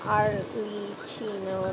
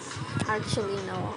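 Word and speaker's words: Arlecchino: at ah by the way her name is pronounced AR Le Chino by the way see oh yeah I keep say arino Aro arino thank you for that I appreciate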